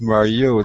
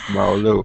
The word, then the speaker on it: Mario: will tell you that my name is Mario not Maro but I was waiting